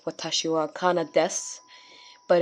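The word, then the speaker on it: です: you would know that the this the you is sort of silent in a way so i'm sorry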